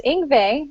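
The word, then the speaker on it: Yngve: And I found out it was Ingve, and Debbie was laughing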